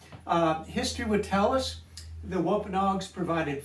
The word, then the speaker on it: Wampanoag: I Googled that to see how to pronounce it. Wampanoag tribe.